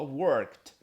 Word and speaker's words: worked: Esse E aqui, ele você não pronuncia o som do E, você pronuncia como se fosse só a letra D, mas tem um som bem parecido com T, na verdade, T de tatu. Fala worked, ok?